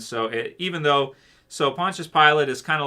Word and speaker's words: Pontius Pilate: say that I would say his name his name wrong punch it Pontius Pilate yeah so he was the governor at that